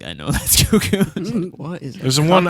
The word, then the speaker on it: Cucco: How do you say it? Cuckoo. Cuckoo? It's cuckoo. Cuckoo Companion?